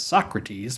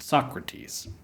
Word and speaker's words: Socrates: This is why we know this guy as Socrates, but not Socrates.